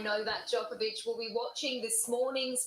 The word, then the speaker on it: Djokovic: Novak Djokovic. That's it. So the D is silent.